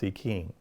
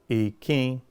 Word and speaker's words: Ìkín: So Ìkín itself, how do we pronounce Ìkín? So Ìkín has, the first I is a low tone.